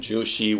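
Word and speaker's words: Zhu Xi: was this kaijushi and jushi which is spelled z-h-u-x-i jushi was a great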